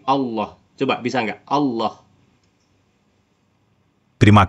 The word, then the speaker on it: Allah: Meskipun saya koreksi e kalau dalam konteks agama Islam menyebut nama Tuhan kami itu bukan Allah tapi Allah Coba bisa gak Allah